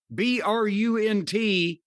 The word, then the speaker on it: Brunt: BRUNT rhymes with something I won't say.